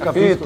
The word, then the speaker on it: capisco: It's 'capisco' not 'capito'.